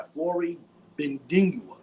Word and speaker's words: Flory Bidunga: Now, if I didn't pronounce it correctly, I apologize. It's Flory, Flory, Flory Bidunga.